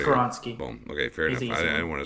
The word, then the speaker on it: Skoronski: I know you had the pronunciation skoronski yeah he's just karonsky boom okay I want